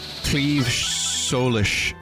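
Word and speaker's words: Claíomh Solais: Cleave Solish, if you want the actual Irish pronunciation.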